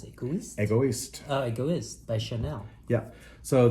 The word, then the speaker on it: Egoist: This one, how do you pronounce it? Egoist? Egoist.